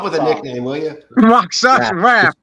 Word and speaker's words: Rakshasa: Rock, as in like there's a rock in the ground. Rakshasha. No shot. Rakshasa.